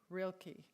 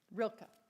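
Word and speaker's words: Rilke: the um author is is u rainor Marie Rilkkey. And you need to study theology to know how to pronounce that name. I think Rilka.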